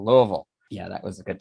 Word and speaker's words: Louisville: Got to say it right. Louisville. That's right, Louisville. So I apologize to anybody. It's got to kind of guttural Louisville.